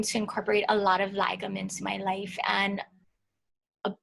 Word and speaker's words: lagom: Lagom, Lagom. Okay, I'm gonna have to. And if you just think about, one. the OM and the word lagom, it's easier to resonate.